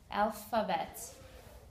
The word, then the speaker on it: alphabet: special note here is this ph sounds like an f whenever you have the ph combination you will have an f sound put your teeth your top teeth right near your bottom lip alphabet and there's three syllables the a both a's and e make their sign sound alpha bet okay that was part